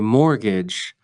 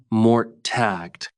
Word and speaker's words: mortgage: This is a funny word because there's a T in it, but you don't pronounce it. You say mortgage, not mort-tagged.